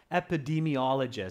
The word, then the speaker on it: epidemiologists: Epidemiologists, sorry, students, the correct pronunciation is epidemiologists.